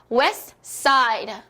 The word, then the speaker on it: West Side: 자, 여기서 STS 이렇게 3개가 붙어 있습니다. 3개 자음이 붙어 있을 땐 중간 거에 뭐다? 생략을 해준다. 그죠? 트가 어떻게 발음이 됐죠? 어디 있을까요? 띵용 없죠. 생략을 해주셨습니다. 넌 탈락. 그래서 West Side Story 이렇게 해주실 수 있는 겁니다.